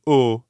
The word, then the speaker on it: au: normally do in english try to hear the difference between an english o o versus the french is spelt a u and here it means until so if revoir means see again and o means until then o